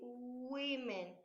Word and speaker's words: women: Women. Aquí quiero que pongas mucha atención en la pronunciación porque no se dice guman ni gu,